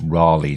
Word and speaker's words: Raleigh: in Carolina not to correct you and tell you it's Raleigh, John. Not like the bicycle that we have over here. Okay, not Raleigh. Raleigh. Yeah. So, Spelt the same, but... Yeah, exactly. Different pronunciation. Yeah.